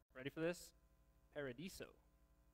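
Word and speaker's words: παράδεισος: to say the word paradise in greek is pronounced ready for this paradiso sounds like you're at starbucks or something but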